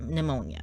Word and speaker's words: pneumonia: never want to get pneumonia because I don't know if any of you have ever gotten pneumonia before, but you never want to get pneumonia or pneumonia, the silent P for some random reason.